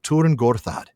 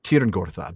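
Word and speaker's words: Tyrn Gorthad: I've always pronounced it tier Gortad. But then I had to look that up. James, can you explain? It is Turin, isn't it? That why it's the U in German.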